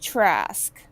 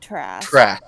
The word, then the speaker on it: Trask: wild oh god oh name is pronounced trask not trash okay oh god our